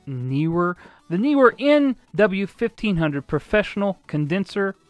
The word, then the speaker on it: Neewer: This is the Neewer, or it's spelled Neewer with two E's, so I'm pretty sure it's Neewer.